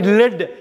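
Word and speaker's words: lead: அதேமாரி லெட், எல்இஏடியை லெட்டுன்னு படிக்கலாம். ஈஎம், அது ஒரு உலோகம், ஒரு மெட்டல், லெட். அதை வந்து லீடுன்னு படிக்கக்கூடாது, லெட்டுன்னு தான் படிக்கணும்.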